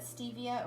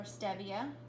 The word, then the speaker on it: stevia: I haven't used it as much lately, but stevia or stevia, you'll hear it pronounced both ways.